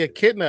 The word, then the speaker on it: echidna: echidna is like Echidna, a yeah. porcupine, but not. And done for your pronunciation, and well done for your pronunciation, Non.